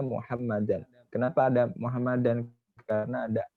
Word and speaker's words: Muhammadan: Muhammadan itu ya, bukan Muhammadun. Muhammadan, karena ada alifnya maka dibacanya Muhammadan.